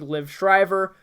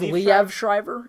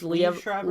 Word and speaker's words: Liev Schreiber: Sabretooth not look like Liv Shriver? Who knows? Life happens. Is it pronounced Liv Schreiber? I think it's Liev Schreiber. It's Liev Schreiber? Liev Schreiber. Liev Schreiber's great. Leaf.